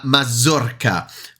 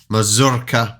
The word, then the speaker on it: mazurka: journalist person couldn't pronounce mazurka properly or at least try to roll the r anyway um straight away